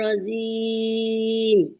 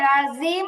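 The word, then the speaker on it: رجيم: আউযু বিল্লাহি মিনাশ শাইতানির রাজিম। আপু রাজিম হয়েছে, রাজিম হবে না, রজিম হবে, জিম দিয়ে, জিম জিম, রজিম।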